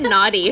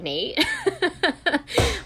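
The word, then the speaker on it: Nayte: i was calling him naughty for a second because it's the y is silent so it was yes i thought it was naughty yeah then my little brother was like no it's nate yeah and julie's like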